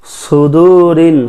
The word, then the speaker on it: صدور: সুদুরিন সাদ উচ্চারণ করতে হবে, সুদুরিন নাস মিনাল জিন্নাতি ওয়ান নাস।